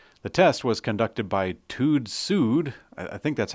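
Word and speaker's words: TÜV SÜD: test was conducted by tude sued I think that's how you pronounce it it's TUV with little dots over the U and sud with little dots over the U it Rhymes I'm sure anyways it's an independent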